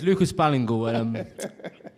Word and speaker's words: Ballingall: Okay, Lucas, I would pronounce this as an American, Ballingall. And if that is not how you pronounce it, that's how you start today. Lucas Ballingall. It's Lucas Ballingall.